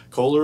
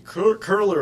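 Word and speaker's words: Köhler: Kohler illumination, how many people have heard of Kohler illumination? Yeah. All right, how about if I pronounce it correctly? Curler illumination.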